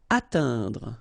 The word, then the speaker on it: atteindre: Atteindre. So remember when you combine this E-I-N together, you get the sound un.